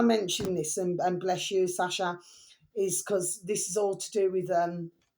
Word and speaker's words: Sacha: Now then, my delicious babies, so we have here right, capital T, the space, capital official space, capital S, Sasha, which is spelled Sacha, space, capital S, stone, then capital C, channel, Mad Little Babies.